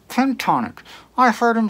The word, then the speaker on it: pentatonic: he's totally mispronouncing pentatonic he continually says ten tonic pentatonic i heard him say